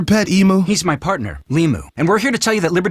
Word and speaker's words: Limu: So is he only an emu because it rhymes with Limu, as in Liberty Mutual?